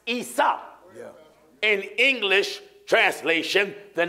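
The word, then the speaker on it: عيسى: look at the name Esau in Arabic is pronounced Isa in English translation the name Isa is Jesus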